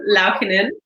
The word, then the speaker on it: Laukkanen: My name is really hard to pronounce. It's actually. I say it's like Princess. Laukkanen. So it's just Laukkanen.